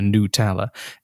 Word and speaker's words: Nutella: a canadian thing where these people say called a new tower despite the fact it's made of nuts and the word nut is in the name i don't know why you would not pronounce nut hour i don't know why you go new teller you don't why would you soften the nut okay this is we're